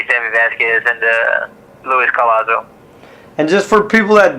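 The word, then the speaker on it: Collazo: Colazo. So I mean that's Colazo.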